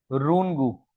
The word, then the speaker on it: Runge: तो भाई इसको सबसे पहले हासिल किया था एक साइंटिस्ट ने जिनका नाम है रूनगू। क्या है? रूनगू। स्पेलिंग तो RUNGE है, बट हम इसे पढ़ते हैं रूनगू।